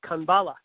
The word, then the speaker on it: Kanbala: It's pronounced Kanbala.